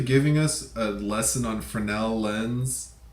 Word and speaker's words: Fresnel: Looks like Fresnel, but it's pronounced Fresnel. Anyways, it's French. It's French.